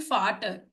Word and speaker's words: Vater: And you can see we have written Vater, but we are saying Vater because das Volkswagen, right? Every V in German is F. Okay, is pronounced F.